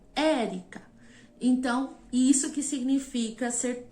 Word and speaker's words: Érica: exemplo meu nome Érica Qual é a sílaba tônica de Érica o Érica Então isso que significa